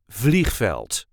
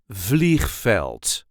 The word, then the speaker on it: veld: with veld this is the way we say velt velt there is a light emphasis on the first syllable velt VV fleel so the other word